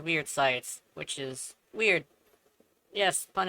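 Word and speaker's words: Wyrd Scythes: Dagath's first ability is, Weird Sights, apparently is what it's actually, pronounced as, which DE decided to look it up and found out that yes, it is Weird Sights, which is weird.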